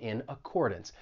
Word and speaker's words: in accordance: And keep in mind that final syllable in accordance, even though it's spelled D-A-N-C-E, you're not going to say dance. It's going to have that schwa sound. It's going to sound like dunce.